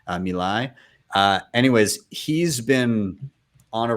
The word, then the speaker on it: Milei: Javier Milei, I believe is how you say his name, Milei.